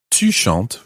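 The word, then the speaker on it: chantes: none at all now there's no difference in how it sounds however when it's written as always there are these silent letters in french so when it's written it's actually spelled with an es at the end in the tu form so whereas it's jeshant which would be c-h-a-n-t-e tushant would be c-h-a-n-t-e-s to chant but it sounds identical okay now let's take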